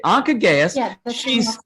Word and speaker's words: Anca Gheaus: speaker um is uh i'm never quite sure how to say it i think it's anka gaius is that right anka okay anka gaius she's a political philosopher